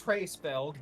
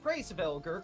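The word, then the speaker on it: Hraesvelgr: Look, the actual name is Hraesvelg. This game just pronounces it Hraesvelger because it's weird.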